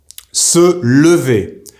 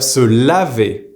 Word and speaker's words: se lever: So make sure you pronounce that A or the E correctly. Here, I'm going to conjugate both of them one after the other so you can hear it.